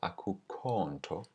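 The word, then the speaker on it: akukho nto: there is no problem a quick note to the pronunciation of aku konto is that because without the eye is only one syllable the stress falls on the aku this vowel gets elongated and stressed and in spoken closer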